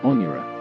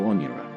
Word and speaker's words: Onyara: To Mohawks, the name refers to the neck, pronounced Onyara, the portage or neck of land between Lakes Erie and Ontario Onyara.